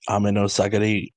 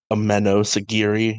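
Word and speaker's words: Ameno-sagiri: flowed into me like what would be the wrong way to pronounce that a meno oh a mano right i know sagiri a meadow sagiri just gotta pronounce the second syllable instead of the first syllable wait maybe not i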